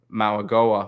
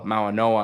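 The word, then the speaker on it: Mauigoa: Lee and rivers and maag Goa maoa I should say as it's correctly pronounced right um they're building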